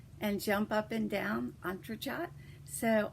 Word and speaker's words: entrechat: It is the step in ballet where they cross their legs and jump up and down, Entrechat. So Entrechat, and the more I'm doing, the better at them I'm getting.